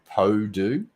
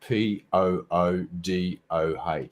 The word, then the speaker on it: Poodoh: There was actually a Chinese restaurant in the town that I grew up in, and it was called it was pronounced the Po-Do, but it was spelt Poodoh.